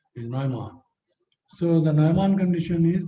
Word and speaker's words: Neumann: Is it Dirichlet, like values given, or is it Neumann, like, because here in India people say Neumann, but actually the German pronunciation is Neumann.